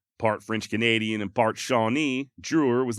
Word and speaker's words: Drouillard: It is French, spelled Drouillard, and apparently the D is silent. I went back and forth on whether to use Drewer or Drouillard, so you may end